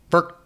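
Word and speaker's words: Phurk: Spell it. P-H-U-R-K. Firk.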